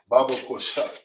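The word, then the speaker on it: בבקשה: Please, which in the Hebrew is pronounced Baba Kusha.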